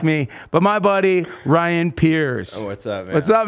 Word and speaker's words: Pires: wrong for so long it spelled funny and my whole life people have said pyre's so okay stopped correcting